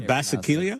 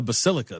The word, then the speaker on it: Basilica: The Basileia. Yeah, there you go. That's what. It's not. That's not how you say it. I just have a picture of it. The Basilica. There we go.